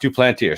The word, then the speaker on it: Duplantier: It's just Duplantier.